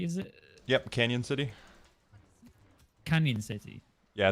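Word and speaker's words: Cañon City: because you're in um cannon city is it yep canyon city canyon city yeah it's got the the tilde on it so it's pronounced canyon that it works either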